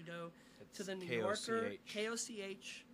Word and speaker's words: Koch: to the New Yorker, K-O-C-H, pronounced, not pronounced cock, as it probably should be, but Koch.